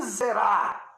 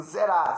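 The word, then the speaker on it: זרע: O Messias, por meio do teu descendente, um descendente, o teu descendente te zerá, alguns pronunciam assim, zerá só, mas é um tissade ali, zerá, por causa do teu descendente, o único, serão benditas todas as famílias da terra.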